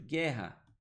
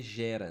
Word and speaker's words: guerra: Guerra. Ó, só para você não ler gera, né? Mas ele não produz som. Então, esse GU virou um único som.